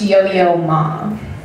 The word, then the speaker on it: Yo-Yo Ma: "Hey, yo mama," and he's like, "Hey, it's pronounced yo-yo ma."